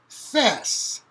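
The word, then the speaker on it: þæs: So, thona, genitive, fess. The AE digraph, it's the sound that you have in cat, fat, mat. It's the a.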